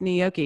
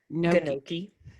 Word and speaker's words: gnocchi: seriously love it and it is pronounced gnocchi because that's the Italian way so if you go and order how do people say no Nikki you know there